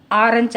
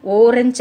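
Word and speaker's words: orange: So okay, on வட்டம் போடுறதுக்கு முன்னாடி இன்னொன்று என்ன பார்க்கணும், ஆரஞ்சு அப்படிங்கிறது என்ன உச்சரிப்பில் இருக்குது, ஓரஞ்சு அப்படிங்கிறது இல்லை, ஆரஞ்சு ஆழ உச்சரிப்பில் இருக்குது.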